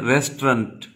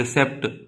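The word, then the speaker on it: receipt: रिसेप्ट। आप रिसेप्ट पढ़ते हैं, वो गलत प्रोनाउंसिएशन है। The correct pronunciation of this word is रिसीट।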